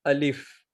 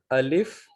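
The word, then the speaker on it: الف: it's pronounced like ah the pronunciation of alif will be ah ah okay then we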